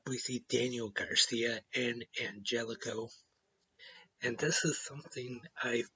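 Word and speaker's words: Angélico: part of Triple A they mostly called him man helico but lately they've been calling him Angelico I just thought they were pronouncing it wrong but Tony shavani actually explained on commentary tonight that he actually prefers that it's Angelico so I know now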